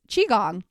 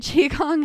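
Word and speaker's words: qigong: and resetting myself is chiong I don't know if you guys have heard of it it's spelled with a Q so it's a little bit tricky to find but chiong has been really beneficial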